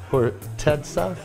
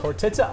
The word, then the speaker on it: Khortytsa: We're talking about Khortytsa Ice Vodka. Did I say it right? You got it exactly right. It's Khortytsa Ice Vodka.